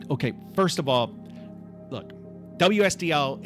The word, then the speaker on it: WSDL: First of all, look, WSDL is not pronounced Wisdom.